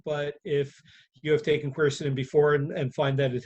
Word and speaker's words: quercetin: question from john is do you recommend taking quercetin to help with the side effects i'm not sure if i pronounce that right side effects of the vaccine do you pronounce it exactly correctly it's quercetin um you know quercetin is a great supplement